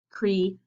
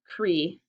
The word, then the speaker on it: create: EA is a double vowel, but in this word, it doesn't work like a double vowel. Instead, it gets divided. That's where the syllable break is. Create.